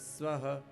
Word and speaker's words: स्वः: ओम भूर्भुवः स्वः, बोलिए।